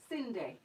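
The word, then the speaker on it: Cyndi: But it's spelled C-Y-N-D-I. Cindy.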